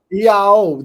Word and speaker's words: Iao: Iao, that's how they pronounce it. Yeah. Old MacDonald had a farm, E-I-E-I-O, right?